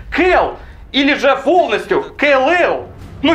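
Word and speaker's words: Kal: А вот имя Кал, видимо, у вас, господа прокатчики, никаких ассоциаций не вызывает. Нет, не вызывает. Блин, эту проблему можно было решить, всего лишь произнося его имя как Кэл.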